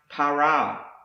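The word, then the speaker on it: פָּרָה: you're in my presence the next word is pronounced para and it means to bear fruit be fruitful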